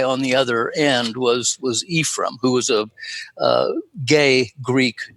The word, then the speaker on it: Ephraim: The second book, after the Book of Ephraim, they always pronounce that that name, by the way, Ephraim. It's not the good Hebrew. You were much closer to it with Ephraim, but for them, the